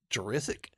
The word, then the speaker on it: Jurisic: his last name so Colton jurisic is that how you do it yeah it's like Jurassic but with eyes that's easily the question